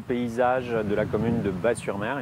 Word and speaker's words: Batz-sur-Mer: de la commune de Batz-sur-Mer effectivement on prononce pas le zen et soit on dit baba cool soit on dit le cœur qui bat avec également un slogan